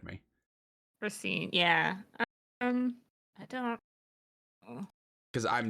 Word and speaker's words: Racine: I'm assuming you pronounce it Racine. You can correct me. Racine, yeah.